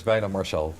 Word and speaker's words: Wijnand Marchal: least two a week there to get the pronunciation ready keep on practicing my name is vitae Marshall okay so much better economic counsellor trade and